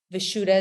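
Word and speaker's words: Vishuddha: in your throat and it's vashuda veshuda is how you say that and that means especially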